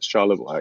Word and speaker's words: Charlevoix: jesse you did actually it's you can say it in french it's charles but you can say it in english as charlevoix yes thank you i